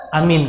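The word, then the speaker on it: آمين: Jangan dibuka monster ucapan Amin itu adalah disyariatkan cara membacanya ada dua yang pertama dipanjangkan hanya dan minimnya ditanyakan jadi amin ya amin terserah hanya oyok mau dipanjangkan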